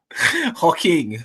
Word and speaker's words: Joaquin: How the fuck is that Joaquin, by the way, with a J at the front? It's Spanish. Joaquin. I don't know, mate. Who knows? It's like Jose spelt with a J, is it?